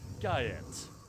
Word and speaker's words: Guyette: We were here with Paul Guyette, and I'm finally going to pronounce his name correctly. Guyette. It was pretty much the first thing he said to us. Paul Goyette, he was like, Guyette. Sorry. Sorry, dude. It's literally how it's spelled.